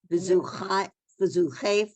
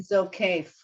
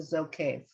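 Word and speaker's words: זוקף: v'zuchef l'chol hakafufim. We can stop there. It would Okay. be Zokef, according to this, the way we decided. It was the Zokef.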